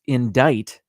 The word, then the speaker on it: indict: it written out though the word is pronounced indict it has a c in it the legal term whose